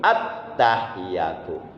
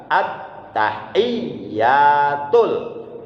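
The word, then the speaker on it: التحيات: Kadang-kadang masih ada yang bacanya begini, at-tahiyatu, hilang tasdid 1 di iya itu hilang. At-tahiyatu, itu salah, menghilangkan 1 tasdid yang ada di huruf iya. Jadi yang benar at-tahiyyatul, at-tahiyyatul, at-tahiyyatul.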